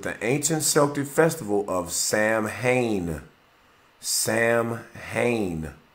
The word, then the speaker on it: Samhain: to the ancient celtic festival of samhain pronounced so in uh the celts who